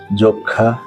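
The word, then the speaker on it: যক্ষ্মা: কোন শব্দের শুরুতে বা আদিতে যদি অ স্বাধীনভাবে থাকে অথবা ব্যঞ্জন ধ্বনির সঙ্গে যুক্ত অবস্থায় থাকে এবং পরবর্তী বর্ণ যদি ষি বা যুক্ত খ হয় তাহলে পূর্ববর্তী অ এর উচ্চারণ সংবৃত হবে অর্থাৎ ও এর মত হবে সম্মানিত সুধী যেই শব্দগুলো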